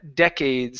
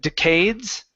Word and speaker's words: decades: Um, the last one, last one for you is uh decades. So instead of decades, okay, the stress is at the very beginning.